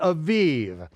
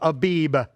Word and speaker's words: Aviv: of the Aviv now in your King James version it'll say the month of abib okay I don't care whether you pronounce it with the with the vet or the bat it really doesn't matter um uh the Jews today pronounce it with the vet okay Aviv but it is always